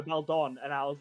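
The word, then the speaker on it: Baldon: time you said it you said Belmont and I was like Belmont and went no Bel Dawn and I was like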